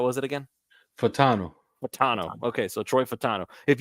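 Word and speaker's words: Fautanu: name I'm sorry how was it again fatano fatano okay so Troy fatano if you go and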